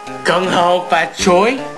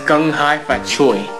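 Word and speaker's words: Kung Hei Fat Choi: Gung-ho Fat Choi? It's actually pronounced Gung-hai Fat Choi, believe it or not.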